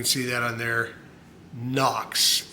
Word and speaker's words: HOKC: And I have since learned that this is not pronounced Hawks. It is pronounced I don't know if you can see that on there. Knox, N O Ks.